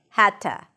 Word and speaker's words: had to: The D turns into a T sound because that's the voiceless version of the D. Had to.